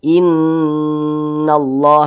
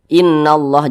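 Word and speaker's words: إِنَّ اللّٰهَ: diunahkan digunahkan itu didengungkan jadi kita tahan sejenak suaranya kita panjangkan inallah inallah seperti itu kalau kita baca seperti ini innallah jangan dibaca seperti itu kurang kadar gunahnya kurang Nah kita lebih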